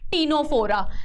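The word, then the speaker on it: Ctenophora: है एक Coelenterata and टीनो फोरा है ना सी इज साइलेंट इसमें है ना समझ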